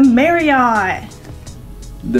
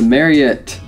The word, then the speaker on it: Marriott: we are at the Mary I the mare yet you know it's actually pronounced Mary it I'm pretty positive it's Mary so we are here